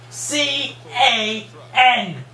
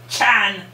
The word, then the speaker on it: Can: you don't have to you do not have to pronounce it as it looks c a n you are not German you don't pronounce it Chan you pronounce it can could be it goes